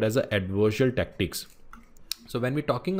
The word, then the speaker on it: adversarial: mean adverse real okay sorry for my pronunciation adverse real it is not advisory it is adversarial which is called as